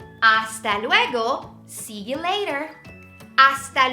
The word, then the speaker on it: hasta: ciao very good hasta luego hasta luego remember that H is silent hasta luego see you later